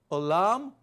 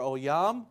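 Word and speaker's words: עולם: So olam or oyam, depending on how you say it, means forever, everlasting, eternity.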